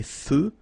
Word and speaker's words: feux: So here, final X, not pronounced. Des feux de circulation.